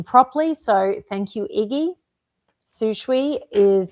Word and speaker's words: Sishui: If you've been watching for the last month or so, you know I've been struggling to pronounce their name properly. So thank you, Iggy. Sishui is how we're going with it moving forward.